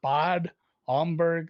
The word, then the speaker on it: Bad Homburg: it's like a long A because Bad means the bath or the bathroom. Badezimmer is bathroom. Bad Homburg.